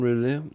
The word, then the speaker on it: Roulet: In Roulet, I think that's the French pronunciation. I think he nailed that. Yeah. And roulette.